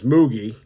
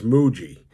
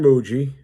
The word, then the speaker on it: Mougey: because I was gonna I was going to pronounce his name as mogie but apparently it's Muji so Darren Muji right from Denver and young young guy 39